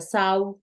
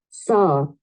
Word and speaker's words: saw: Pilas, no se pronuncia sau, ni se pronuncia so, ninguna de las anteriores. Es más, te la voy a poner para que la escuches. Es como una O alargada, mírala.